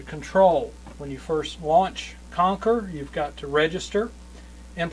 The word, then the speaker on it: QONQR: uh Windows Phone game conquer and Conquer is spelled Q nqr it is what they